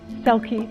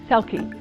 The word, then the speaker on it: Selke: o n a selkie s like in star e l k e selkie and i thank you